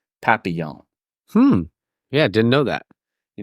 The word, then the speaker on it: Papillon: It starts with a P, and if I have my French pronunciation correct, it is Papillon.